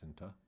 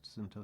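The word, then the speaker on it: Scinta: In 2022, Cinta Solar, Cinta is spelled S-C-I-N-T-A, I think it's pronounced Cinta.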